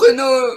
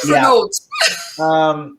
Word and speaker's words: Renault: There was a car that we had here in America called the American pronunciation Renault Alliance. Renault. Not Renault.